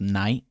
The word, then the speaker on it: Night: yeah he's either knight his name's pronounced night night yeah you pronounce